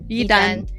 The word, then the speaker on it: Yidan: I'm not sure I pronounced your name right. Yidan. Yidan. Yeah, Yidan.